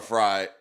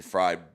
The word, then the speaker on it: Fried: Once again, our allstar pitcher, Matt Free, uh, Matt Free, he or Fry, I always get his name wrong cuz I want to say Fried, but he had a